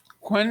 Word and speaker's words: Quine: should be for sure we use quinn in the class so quinn mccluskey is good enough for me mccluskey the other guy